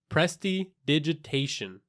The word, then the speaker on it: prestidigitation: a long time so once again it's Presti digitation so Presta is French for nimble digitus is Latin for finger and ation is English and it denotes action